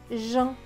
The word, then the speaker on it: Jean: Alors là, c'est une exception. E-A-N se prononce en. Donc, J et en. Jean, c'est un prénom.